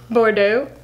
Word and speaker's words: Bordeaux: Bordeaux. Bordeaux. Bordeaux. The X is silent, it's French.